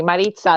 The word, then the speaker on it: Maritza: calls me you know used to call me Maritza that's how they say it in Spanish yeah it's fine it